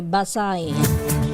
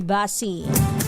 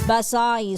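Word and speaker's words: Basey: Ang ah pronunciation pala nila doon ay Basay. Hindi Basi Basay Summer.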